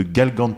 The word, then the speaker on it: Galgantes: retrouve sur l'île de Galgantes. Je ne sais pas si on le prononce comme ça. Moi, je dis Galgante, mais on prononce pas le S.